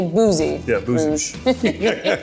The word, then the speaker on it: Bouzy Rouge: - And how would you pronounce this here? - That's a Bouzy Rouge. - I would say Boozey Rouge.